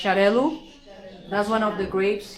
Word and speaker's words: Xarel·lo: So you see an X, but the pronunciation is more like S-H, Xarel·lo.